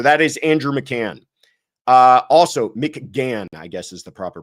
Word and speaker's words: McGann: Also, McGann, I guess is the proper pronunciation.